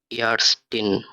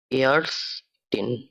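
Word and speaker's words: Ärztin: আ umlaut দিয়ে একটি word লিখছি আমি, এটা হলো ইয়ারস্টিন, অর্থাৎ মহিলা ডাক্তার। এটা বানানটা আমরা দেখি, আ umlaut, যার উচ্চারণ এর মতো, এর, সেট, টে, ই, এন, ইয়ারস্টিন।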